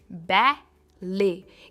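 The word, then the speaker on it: ballet: सबसे पहले है बै ले। इसमें भी टी साइलेंट है। हम कहते हैं बै ले।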